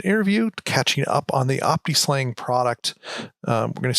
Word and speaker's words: optiSLang: Am I pronouncing it right? I I can't Is it It's Optislang? Is that how they they say it? Yeah, that's the way I've always heard it. Some people say opta slang, but I think optang